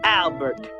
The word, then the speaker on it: Albert: and his name was Albert sometimes people tried to be be cute and pronounced his name in French which was Alber people did this so